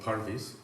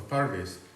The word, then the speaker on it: parvis: tradition of Christian architecture, which is called Parvis, P-A-R-V-I-S. Sometimes it's spelled with a final E, because it comes from Latin parvise, paradise.